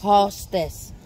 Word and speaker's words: hostas: These are hostas. Hostess. Blue See, boys? hostess, guys. The pronunciation is hostess.